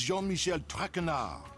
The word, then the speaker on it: Jean-Michel Traquenard: As for my name, not Traquenard. It is Jean-Michel Traquenard. Jean-Michel Traquenard. Traquenard! Traquenard! Traquenard. She keeps saying the D.